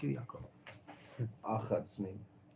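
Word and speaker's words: אך: Vayomer lo Lavan, ach atzmi uvesari ata, vayeshev imo chodesh yamin.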